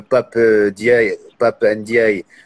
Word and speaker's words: Ndiaye: que dia et pape ndiaye donc pap ndiaye sans prononcer le n à la tête du